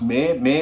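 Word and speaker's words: Maye: So first of all, Elon's mother, I think it's pronounced May Musk, right?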